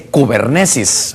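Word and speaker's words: κυβέρνησις: aquí en su pantalla, viene de un griego que se dice kubernesis, aunque se escribe kibernees, pero es kibernesis, es kubernesis, cibernética.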